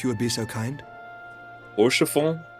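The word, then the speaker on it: Haurchefant: Which reminds me, Lord Orchafon, if you would be so kind. Horshafon. That's how you say it.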